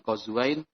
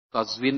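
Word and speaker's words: قزوين: keluar dari tema Afwan kata qazwain dibaca dengan qazwain qazwin atau qazwin beberapa cara baca salah satu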